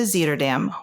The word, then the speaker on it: Zuiderdam: So, I was on the Zeter Dam, which I like to mispronounce about half the time and then I would hear it be pronounced. So, I think it's finally burned into my head. It is Zeterdam.